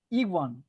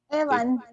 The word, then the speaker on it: Ewan: Iwan, así es como se pronuncia. Me encantaría que me ayudaran y me corrigieran. Iwan McGregor. Evan.